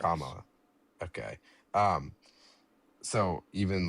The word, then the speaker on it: Kamala: How do you say Kamala. Or you can just say Harris. Kamala.